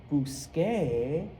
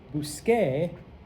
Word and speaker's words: busqué: If you recall, the pronunciation of the letter C in Spanish is just like English. And anytime you have a C before an E or an I, it's S.